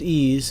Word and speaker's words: EES: EES which is pronounced ease is an acronym for